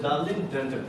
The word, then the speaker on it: Darlin Denton: Sorry, I pronounced the name wrong. Is it Darlin Denton, right? Yes. Yeah, Darlin.